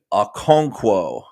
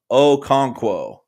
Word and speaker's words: Okonkwo: an absolute freak chig okonkwo oh konkwo i said it right the second time chig oh konkwo nc